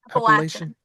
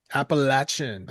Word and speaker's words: Appalachian: Appalachian. Appalachin.